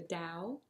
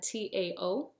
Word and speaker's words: Tao: was familiar with the Dow which is spelled it looks like ta with a t but I'm told it's pronounced da so almost like a d sounding uh Tao which is like a